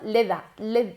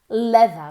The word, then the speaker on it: leather: Entonces termináis diciendo leda, como si fuera una D, y no es una D, es una TH vibrada. Hay que mover las cuerdas vocales. Leather, very good.